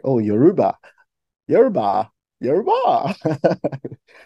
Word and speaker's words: Yoruba: Burna Boy, and I could see people literally speaking Yoruba with him.